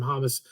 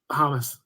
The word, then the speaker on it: Hamas: are blaming israel for the rocket attacks from hummus terrorists do you think this is true hamas yeah you say potato i say potato right